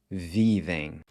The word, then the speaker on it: vivem: The ER gets replaced by this EM, which is pronounced em, vivem.